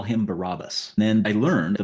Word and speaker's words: Barabbas: I pronounce it Barabbas now because that's how they do it.